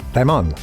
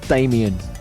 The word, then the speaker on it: Damon: My name is like Ramon. Huh? So I think it's Damon, and that's possibly the way I say it. My mum always used to correct people if they said it wrongly. He said it's not Damon, it's Damon.